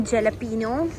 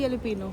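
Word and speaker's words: jalapeño: ये हमने ले लिया है मशरूम जेलपिनो। तो अब इसको टेस्ट करेंगे। आ जाओ मम्मी इधर ही। Mushroom and येलोपिनो। कौन? क्या? क्या? येलोपिनो। येलोपिनो। ये बेशक आता है पर इसकी प्रोनाउंसेशन होती है येलोपिनो।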